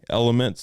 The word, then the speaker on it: LMNT: like single serve packets it's called lmnt elements but it's spelled lmnt I would try that